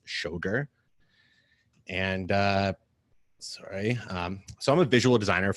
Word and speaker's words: Schoger: up a lot um this is how you pronounce my name it's shogur and uh sorry um